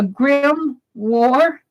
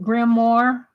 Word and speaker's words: grimoire: know what that is Oh a grim war grimoire grimoire what is that are you telling me how to pronounce it grimoire what is it I